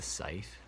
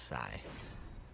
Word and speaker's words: scythe: I'm wrong here, but I remember them pronouncing them super, like it was like sigh, like it was pronounced sigh, and I really hope that's not how they're pronounced, because I hate that, sounds so dumb.